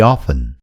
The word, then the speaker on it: often: go to parties very often. यो शब्दलाई हेर्नुस्, often, यसको अर्थ हो प्राय अथवा धेरैजसो र यसको उच्चारण दुईटा छ, often र often, जुन भने पनि हुन्छ, often, often.